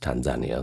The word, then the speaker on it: Tanzania: By the way, a Kenyan girl actually told me that Tanzania is pronounced Tanzania, so I've stuck with that pronunciation ever since.